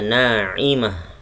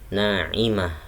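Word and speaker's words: نَاعِمَةٌ: Naimah ada tamarbutoh, bacanya naimah. Tamarbutoh berubah menjadi ha kalau di waqaf. Naimah, nggak boleh panjang mahnya, bukan naimah, salah. Yang benar naimah.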